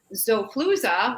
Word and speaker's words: Xofluza: Zofluza, which is spelled Xofluza.